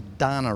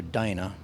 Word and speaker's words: Dana: two barrel Holly carbs a Donna rear end or a Dana depends what side of the bridge you're from how you pronounce that and 41 gears that's